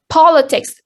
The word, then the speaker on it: politics: have two exceptions yes we have two exceptions uh politics and written race uh their endings of of the words uh is it but the stress falls on the first syllable politic and rhetoric the